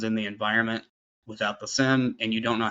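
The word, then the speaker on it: SIEM: So, you you use the phrase SIM. So, that means security information and event management, right? It's S I E M. It's pronounced SIM, like a SIM card in a phone.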